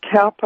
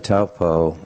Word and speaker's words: Taupo: that was erupted into the atmosphere during the Taupo eruption settled in the upper atmosphere and circulated all over the planet.